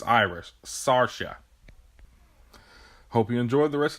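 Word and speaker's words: Saoirse: yeah I feel embarrassed I was pronouncing her name wrong throughout this entire video so I just want to apologize it's Sasha it's Irish Sasha hope you enjoyed the rest of the video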